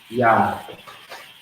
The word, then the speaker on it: Yad: Now the owl, we got the next one, which is Yad.